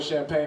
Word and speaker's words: champagne: He's like, no, it's definitely pronounced champagne. And Marquis Johnson says with the craziest look in his eyes, nah man, it's champagne. He's like, no, it's champagne. The G's are soft.